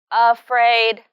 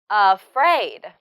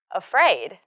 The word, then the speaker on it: afraid: word stress in afraid she said this word like afraid without stress but the first syllable uh should be spoken softer and Frid should be louder afraid afraid yeah that's it next